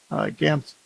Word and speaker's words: GAMS: surgical treatments, which is the acronym GAMS is how I'll pronounce it.